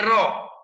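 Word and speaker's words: ρ: HO, nah ini yang seperti huruf P dibacanya RO.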